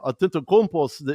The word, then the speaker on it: Antetokounmpo: When you look at Milwaukee being the last, season's champs, you always have to think to yourself, man, Antetokounmpo is a guy who seems to get inside of the paint and make it count.